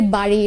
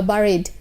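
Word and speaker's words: bury: ওটাকে আমরা বলি বাড়ি বা বারিড। হ্যাঁ, তো সারাদিন যদি আপনি শোনেন যে আমাকে কোথায় দাফন করা হয়েছে, আপনারা খুঁজে পাবেন না, কারণ আপনারা খুঁজবেন হচ্ছে বাড়ি অথবা বারিড। ওটার উচ্চারণ হচ্ছে বেরি, বেরি অ্যান্ড বেরিড, শি ইজ বিন বেরিড।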